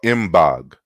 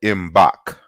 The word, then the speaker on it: Mbog: state of cameroon and it's called em bog or in balk as two different pronunciations thank you Larnell for